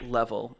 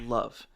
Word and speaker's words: LOVE: Um, actually, it's not pronounced level. It's pronounced love.